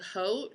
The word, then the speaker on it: Haute: as hell oh and hot is spelled like Haute like Haute look is this is